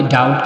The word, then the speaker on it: doubt: बी is usually not pronounce before the letter T. टी से पहले भी जो बी है वो साइलेंट हो जाता है. अभी देखिए DOUBT हमें डाउट नहीं बल्कि डाउट कहते हैं, और दूसरे में डाउटफुल